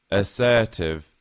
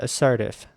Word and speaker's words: assertive: example assertive okay so the difference here is that in British English the t is pronounced quite uh well quite aggressively in my opinion assertive and in American English it's more it's softer assertive here's an example phrase